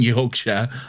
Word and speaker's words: Yorkshire: As someone who is from Yorkshire and lives in Yorkshire, I can 100% tell you it's Yorkshire.